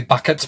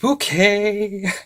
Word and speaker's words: Bucket: routage as hin bouquet even though it's technically bucket but whenever anyone says Mrs bucket to her she closes her eyes as if praying for patience and says it's pronounced bouquet but anyway I just